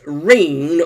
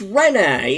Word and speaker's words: Rene: a faux pas where I was sort of pronouncing Rene as Reen or Reenie. And but it turns out it's Rene. It's like hello, Rene.